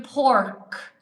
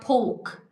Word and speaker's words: pork: And I said, "She means the pork. P O R K, P O R K. Pork, okay? Not poke. But because they don't pronounce the R's, poke, poke, is it?